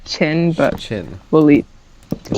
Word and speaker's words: Qin: Yes, it's pronounced Qin, but Qin.